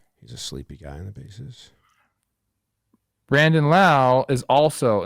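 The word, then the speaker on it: Lowe: Then I'm just who's I'd rather at second base get consistency and balance and Brandon Laauo uh be low is loud. That's how I remember how to say his name.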